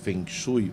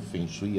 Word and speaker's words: Feng Shui: aplicar o o o Feng Shui ou Feng Shui As duas pronúncias são corretas Toda Toda vez que